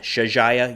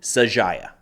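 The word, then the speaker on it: Shuja'iyya: I'm saying that right I think I said Shaya yesterday had some nice folks correct me on the pronunciation saaya is what I'm going with today Israel said they uncovered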